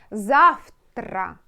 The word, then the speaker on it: завтра: will be changed, like zav, tra, tra, you see, завтра. it means tomorrow. But when you pronounce it, V should be changed. It will be like F, F, like Zav, not V, F, Zavtra, like that.